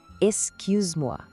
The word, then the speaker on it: excuse-moi: Tente fazer o som de I, mas com a boca no formato de U, assim, cu. A segunda parte é ses. E por fim, moi.